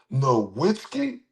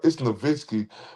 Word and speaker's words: Nowitzki: the Mavericks said Dirk Nowitzki, we said it's Nowitzki, but they pronounce it Nowitzki. You can say it both ways, I guess.